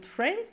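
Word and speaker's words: friends: وبعدين فرينز يعني اصدقاء واحنا بننطق كلمه فرينز ما ننطق الدي لان الدي ما بين حرفين ساكنين فهيبقى تقيل اننا ننطقها فبتحب بنقول فرينز فرينز اوكي ايه اللي هيحصل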